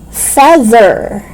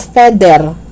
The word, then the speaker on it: feather: Feather. It's not feather. Okay? It's feather. Gather.